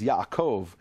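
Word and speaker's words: יעקב: in the letter bet the letter bet with a DOT is B without a DOT is V the example is yov Jacob in English it's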